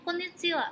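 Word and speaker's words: こんにちは: dan kondisi laut Hai meskipun menggunakan kata H tapi tetap dibacanya Konnichiwa hai oke kata Konnichiwa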